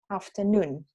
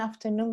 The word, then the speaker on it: afternoon: Entonces yo digo afternoon, ¿ya? Entonces el acento en afternoon va en la última sílaba, tiene un doble acento, afternoon.